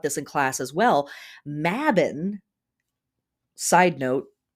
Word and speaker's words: Mabon: maybon so here in America we're taught to pronounce it maybon the word is actually pronounced mabin uh and the word is part of a